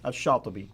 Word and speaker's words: Shatibi: Now, how would you pronounce his name? Shatibi.